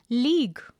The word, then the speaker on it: league: The pronunciation is league. It is monosyllabic. It is important for you to note is use the long E sound as in seed.